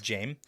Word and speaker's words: Jame: Okay, is that how they say it in the audiobook? It is. Jame.